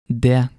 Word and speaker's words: det: When you see the letters ET in Norwegian, the T may be silent. And some examples of that are huset, det, uke.